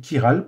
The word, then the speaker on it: chirale: Ça s'écrit CH, mais ça s'écrit chirale. Pourquoi? Parce que ça vient du grec ker, qui signifie la main.